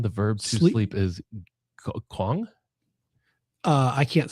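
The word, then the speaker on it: qong: In Klingan, the verb to sleep is Kong. Uh, I can't spell it.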